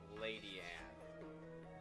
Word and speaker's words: Ledian: And so- Shiny Gamer says there is actually an episode with Ledian in it, and he says that they pronounce it Lady Ann, which is...